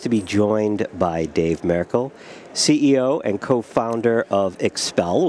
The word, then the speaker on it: Merkel: I like the Merkel, which is the proper pronunciation, as opposed to Merkel.